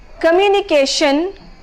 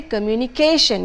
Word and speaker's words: communication: Communication for communication. So the stress should not be on shin as it is usually done because of mother tongue influence. Instead, it should be communication.